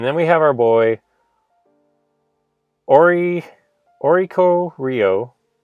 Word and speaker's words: Oricorio: Moving on, we have the uncommons, and then we have our boy Oricorio, or I said it right the first time. Oricorio, anyway.